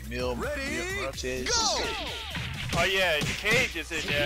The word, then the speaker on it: Mil Muertes: Mil Muertes.